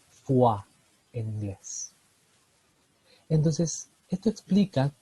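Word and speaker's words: foie: un pequeño meme estudiaremos El extraño caso de la palabra ortográficamente fle que se escribe con tres de las cinco vocales o y e y se leen con las dos que no aparecen porque se lee fua en inglés Entonces esto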